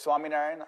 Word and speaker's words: Swaminarayan: The proper name, you'll pronounce it for me, is Yes, it's Swami Narian Asharam.